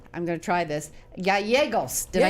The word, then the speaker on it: Gallegos: me today, I'm going to try this, Gallegos. Did I say it right? You did it right. With a name like, I care very much. All right, but say it better. Gallegos. Gallegos.